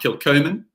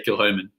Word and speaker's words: Kilchoman: not too fussy most most Scottish people would say when they saw kill Homan you know they would say um kill Coman you know that would be the natural pronunciation for you know Scottish person um but the new the nuances of of different regions of Scotland and how they pronounce things just means that no one can explain it but we say kilom who knows why no explanation needed my father uh has